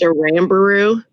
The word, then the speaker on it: Aramburu: Okay, moving on, I have, I don't know how to pronounce your last name, Aramburu? It's pronounced Arambaru.